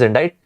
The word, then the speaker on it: indict: Indict or indict, the pronunciation is indict.